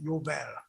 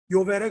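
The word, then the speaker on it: יובל: 원어로는 희년을 주빌리라고 하지 않고 요벨이라고 부릅니다. 요벨. 요벨의 그 J를 영어식으로 읽어서 J 발음을 하는 거예요.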